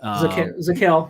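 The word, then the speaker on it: Zakelj: even say his name Nick zakelge zaquel yeah the Jay silent yeah I mean so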